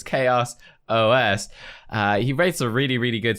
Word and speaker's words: ChaosOS: a long one by ChaosOS. I always get this wrong too. I pronounce it Chaos, but it's ChaosOS.